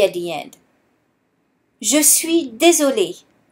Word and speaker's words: désolé: Je suis désolé. However, the pronunciation is the same. Here, the E is silent.